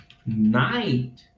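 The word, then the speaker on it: knight: Nós temos, por exemplo, a palavra night, que é cavaleiro, que eu vou pronunciar a mesma coisa que noite.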